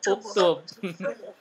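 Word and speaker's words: اُكْتُبْ: Cara membacanya lihat huruf ketiga, huruf ta. Huruf ta-nya domah, berarti hamzah wasalnya dibaca domah. Berarti bacanya apa? Uktub.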